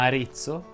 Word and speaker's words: Arezzo: Ovviamente non sono ad Arezzo, ma Arezzo si pronuncia con la E chiusa.